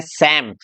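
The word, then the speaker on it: psalm: एंड इसको आप देखेंगे ध्यान से तो इसमें डबल साइलेंट है, तो इसको बोलेंगे सैम। तो यहाँ पर पी भी साइलेंट है हमारा और यहाँ एल भी साइलेंट है, क्योंकि एल के बाद में क्या है? एम है।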